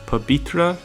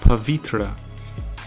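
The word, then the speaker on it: पवित्र: If the wa is at the beginning of the word, it is usually pronounced as a ba or va sound. Sometimes it also depends on accent or preference. An example of this is pabitra. I've heard Nepali speakers pronounce it both pabitra and pavitra.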